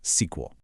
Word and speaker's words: SQL: And that language is called SQL, often pronounced sequel.